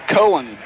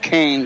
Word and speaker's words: Cohen: in for cade blanchett cohen corona that's how they pronounce that okay looks like kane but it's cohen it is cohen okay yeah only because